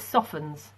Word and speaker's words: soften: it becomes soft it softens okay and when we say soften it's silent T and say was fastened